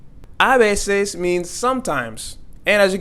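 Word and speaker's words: a veces: the H is silent again we're going to pronounce this as oi and not hoi abeses means sometimes and as you can see here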